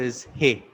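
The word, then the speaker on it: איש: So the first letter is U, and the second letter is He. You, He, and it is pronounced as Yah. Now, for man, in Hebrew, man is pronounced as Ish, and there are three letters.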